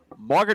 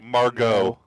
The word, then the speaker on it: Margot: Gal Gadot, Margaret Robbie, Angela Bassett. Wait, did you just say Margaret? Margaret. That's how she pronounces it. Margot.